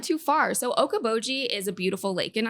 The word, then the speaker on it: Okoboji: and the town you grew up in is Okoboji which is 30 minutes away from can you spell that yeah of course all right next episode